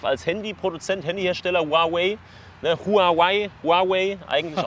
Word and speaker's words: Huawei: euch ein Begriff als handypoduzent Handyhersteller Huawei Huawei Huawei eigentlich ausgesprochen und ich bin ein großer Fan von